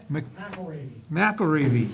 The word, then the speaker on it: McElravy: McElravy. Just like it's spelled.